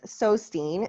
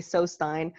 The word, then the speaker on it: Sewstine: how to pronounce it some people say so stein i don't really care as long as you know how to spell it but the scene is